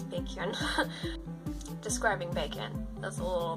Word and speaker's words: Baekhyun: Fans like to call him Bacon just because it's funny. See his name spelled out. It is not pronounced bacon that way, it's Baekhyun.